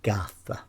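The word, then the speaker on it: garðr: It incorporates the Old Norse word Gartha, G-A-R, then a letter called eth, which is pronounced as the, then finally an R, which means the whole word is pronounced Gartha.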